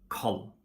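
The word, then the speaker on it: kald: We don't pronounce the letter D in combinations ND, RD, and LD. Okay, we just drop it. Like for example in lon, or bor, or koll.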